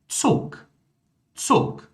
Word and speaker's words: Zug: Ou seja, o G no final de palavras, tá? Ele vai ser pronunciado como K. Olha só. Tak. Zug, Flugzeug.